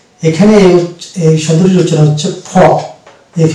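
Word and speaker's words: faux: অর্থাৎ এক্স থাকবে এখানে এই শব্দটির রচনা হচ্ছে ফ এফ এ ইউ ফ অর্থাৎ এক্স কে আমরা উচ্চারণ করবো না তাহলে আপনারা এই ওয়ার্ডটিকে লিখে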